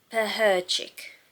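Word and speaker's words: Pecherczyk: Devils Book 2 by, let's get her name right. It's got the pronunciation in the back, that's why I'm looking in the back. Lana Peherchik.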